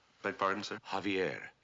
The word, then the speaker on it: Javier: Javier. Beg pardon, sir? Javier, not Javier. The J is silent. You pronounce it like a ha.